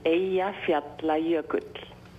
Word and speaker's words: Eyjafjallajökull: The pronunciation is Eyjafjallajökull. Oh, okay, now I get it. The glacier is called Eyjafjallajökull.